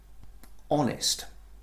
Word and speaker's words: honest: But all of those words, you notice the letter H is unvoiced, it is silent.